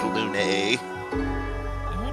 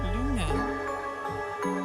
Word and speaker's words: Lune: I was gonna say, you are saying her name wrong. You're technically saying it correct in French, but that is not how her name is said in game. It is Lune. Luna. No, it's always Lune.